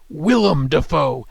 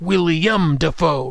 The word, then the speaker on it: Willem Dafoe: It's pronounced Willem Dafoe, not William Dafoe, right?